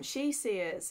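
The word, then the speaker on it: Sidhe-seers: member of the um she Sears which again is written as like seed Sears I used to read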